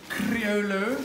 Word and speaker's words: Criollo: Criollo, but you don't pronounce the L's apparently.